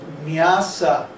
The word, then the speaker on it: nyasa: After you do your tilak and achama, then it's called nyasa, N-Y-A-S-A. No, it's spelled nyasa, with two long A's.